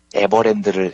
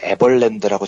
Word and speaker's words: 에버랜드: 조준홍 특별검사가 나와서 발표를 하는데 하도 발표 내용을 듣다 보니까 한심하고 열이 받아서 제가 유일하게 기억이 나는 건 그 조준홍 검사가 당시에 에버랜드를 에벌랜드라고 잘못 발음한 거 그거 하나만 뚜렷하게 기억이 납니다.